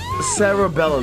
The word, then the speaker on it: Cerebella: Cerebella. That's how you name. That's how you say her name.